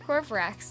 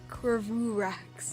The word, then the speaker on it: Corvrax: Corvrax is pronounced Corvrax, not Corvurax.